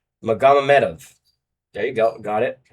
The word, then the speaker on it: Magomedov: Magomedov.